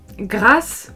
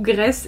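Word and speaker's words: Graas: Je ne connais pas et j'espère que j'ai bien prononcé, c'est Margareta Grasse ou Grace, c'est G-R-A-A-S, donc 2 A, mais il y a des trémas sur les A.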